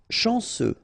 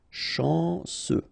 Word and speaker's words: chanceux: Chanceux. Final X not pronounced. This C-E-U, ce. Chanceux.